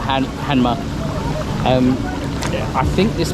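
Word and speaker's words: Hanmer: as well anyway so this is this is spelled like Hammer books it sounds like hanma um yeah I think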